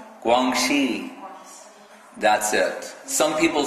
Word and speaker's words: Guangxi: Guangxi.